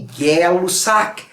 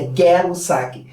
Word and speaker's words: Gay-Lussac: A lei de Gay não é gay, é Gay, é assim que se pronuncia, tá? Eu sei que tem gente que já quer falar gay aí. Não, não é gay, é Gay-Lussac. E são dois caras, tanto